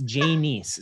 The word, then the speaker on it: Janiece: So you said Janiece, don't try. Which I have a hard time getting Janiece out of that But so it's Janiece.